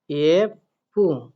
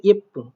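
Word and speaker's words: 예쁘: তাহলে আমরা এখানে লিখব ইয়েপু। দেখেন যেহেতু এখানে সাংবিপ আছে তার মানে পয়ে পয়ে মতো উচ্চারণ হবে। ঠিক আছে? তার সাথে যেহেতু হুসু আছে ইয়েপ্পু।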